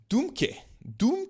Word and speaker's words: Dohmke: GitHub CEO Thomas Dohmke, this is how you say his name, is going to step down.